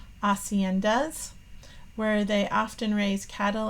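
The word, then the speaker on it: haciendas: homes or Estates called acendas where they often raise cattle and sheep again notice that we don't say the H sound you know I still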